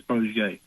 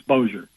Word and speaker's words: Bossier: Shreveport Bossier Journal, but you gave it a shot because most people would think it's Bossier. It's Bossier. Thank you, my friend. You're the man. Take care. We'll see you. Much love at the Bossier Journal.